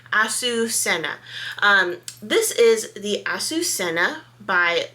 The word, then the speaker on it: Azucena: So I have listened to Google and I'm hoping that now I'm doing it better. Azucena.